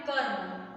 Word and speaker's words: कर्म: दिया है इसमें कम, यहाँ से देखिए पहला है क म, इसे लिखना है कर्म, तो रेफ र की मात्रा इस म पर लगेगी, म के ऊपर, और इसका उच्चारण कैसे होगा?